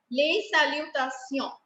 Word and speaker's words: salutations: We leave S silent in the end. Les salutations.